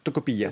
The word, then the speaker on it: Tocopilla: Mais là, cet endroit, ce village, qui s'appelle comment encore Oui, Tocopilla. Tocopilla, oui, c'est ça, comme ça vous prononcez mieux que moi.